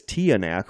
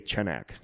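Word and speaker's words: Tiyanak: The older generations pronounce it as Tianak, while nowadays we just say Chenak.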